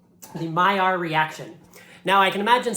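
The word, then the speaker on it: Maillard: they're gone a reaction which we call the my our reaction now I can imagine some of you are looking at this word and saying that clearly says maila lard but this word is French and my sources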